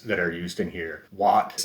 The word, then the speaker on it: Watt: are used in here wat of course sounds like the word what w-h-a-t and mr not which